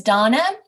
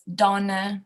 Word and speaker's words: Dana: It's Dana. Dana. But like they're getting confused. They do live in the US and yeah, they Americanize everything. Yeah. They think that it's Donna, like Donna, if you're saying Donna.